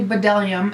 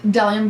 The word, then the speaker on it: Bdellium: it should be so done tools the beat is silent you want to say bdellium and I want to say it and I do say it bdellium but it is bellum tools to be a silent these are fantastic